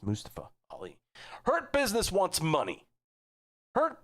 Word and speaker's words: Mustafa Ali: I pronounced their name right. It's Mustafa Ali.